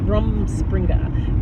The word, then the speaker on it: Rumspringa: Rumspringa.